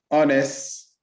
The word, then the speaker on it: honest: Our, honest, honor, honorable, and heir should not be pronounced with an H.